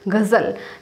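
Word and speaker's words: ग़ज़ल: नुक्ता ठीक है और अगर किसी भी शब्द में नुक्ता लगा हुआ है जैसे जी में भी अगर हम नुक्ता लगे जी में भी तो ये इसका फिर उच्चारण ही बदल जाएगा फिर हमें इसको गरज के साथ बोलना पड़ेगा जल ठीक कैसे बोलेंगे गजल तो नुक्ता का मतलब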